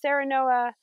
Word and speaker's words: Serenoa: right palm family and sarah noah repens sarah noah sounds like the word serene um although it's named